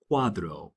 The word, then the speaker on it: cuadro: A c a c or a cu, they're going to sound like the c in the in the word cool.